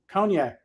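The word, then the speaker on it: konjac: there made from the conac not not the drink it's a it's spelled like kjac okay it's a a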